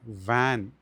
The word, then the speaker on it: van: ധാരണ വി എന്നുള്ളതും ഡബ്ലയു എന്നുള്ള അക്ഷരത്തിനും ഒക്കെ ഒരേ ഉച്ചാരണമാണെന്നാണ് അങ്ങനെയല്ല ഇത് നമ്മൾ പ്രത്യേകം ശ്രദ്ധിക്കണം വാൻ എന്നുള്ളതിന് വാൻ എന്നാണ് പറയേണ്ടത് അതേപോലെ നമ്മൾ എൽഓവിഇ ലവ എന്നാണ് പറയാറുള്ളത്